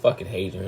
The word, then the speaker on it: Hadrian: this hadrien I was just saying his name wrong this is hadrien it says Adrien uh let's see just